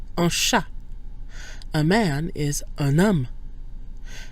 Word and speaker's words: un homme: Notice that un loses its nasal quality when followed by a vowel or, as in this case, a mute H. So we get un homme, where we pronounce the N instead of un homme.